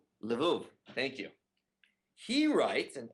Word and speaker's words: Lvov: rabbi in a polish town of lev is that how you pronounce it lvov thank you he writes